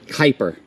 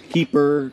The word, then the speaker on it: Kuiper: right good morning what's the pronunciation of your last name Kuiper hyper I wasn't sure if it was keeper keeper keeper hyper all right so